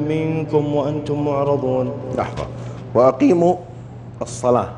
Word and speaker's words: الصلاة: لحظة، وأقيموا الصلاة، هذه الواو ما تنطق في التلاوة، هي رسمت في الرسم العثماني كذا لكن ما ننطقها.